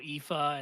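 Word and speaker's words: Aoife: There was the sushi speedrun story from last year involving such greats as Zempro, Katsugiri, Poyo, Ifa, and so on. Yeah. And shout out, you pronounced Ifa correctly.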